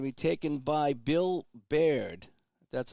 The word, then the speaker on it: Baird: And that's going to be taken by Bill Baird. That's how you say his name. Bill Baird.